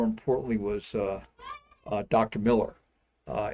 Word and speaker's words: Mueller: was uh uh Dr Miller uh it was spelled Mueller but he pronounced it Miller and he was some